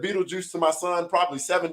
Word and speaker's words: Beetlejuice: for everybody knowing and when you read it it is pronounced Beetlejuice there is no reason